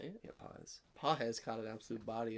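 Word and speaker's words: Pagés: Yeah, Paez.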